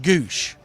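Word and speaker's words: Gwosdz: He pronounce it Doug Gouch.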